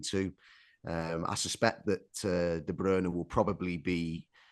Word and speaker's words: De Bruyne: in Syria because as I say the correct pronunciation is de Brerna but anyway That's beside the point.